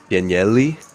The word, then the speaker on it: Danieli: In Italian, we pronounce all the letters.